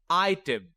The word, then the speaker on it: item: Notice there is no consonant at the end of the first syllable. That means the door is open. So I will say the long I sound.